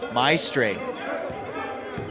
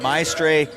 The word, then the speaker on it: Maestre: Maestre is how it is pronounced. Rhymes with barrel.